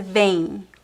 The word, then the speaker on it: vem: Você vem. Vem. Vem. I know it's very similar, but this one is not nasal and this one is nasal and the pronunciation is em.